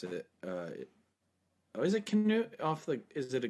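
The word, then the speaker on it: Knut: like like so king nut right or king canoe which is probably the way to pronounce it but but they pronounce it king nut because it has and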